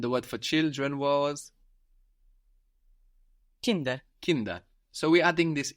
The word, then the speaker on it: Kinder: get the plural, and also that D is softening again, becoming like a D again rather than a T, because it's not at the end of the syllable anymore. It's starting a new syllable, Kinder, rather than Kind.